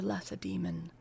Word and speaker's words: Lacedaemon: It's spelled like lace demon. But that is probably not how it's pronounced.